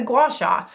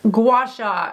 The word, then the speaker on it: gua sha: All right, gua sha. And if you've ever wondered about the correct pronunciation, think of the word spa. Both words in gua sha sound like spa.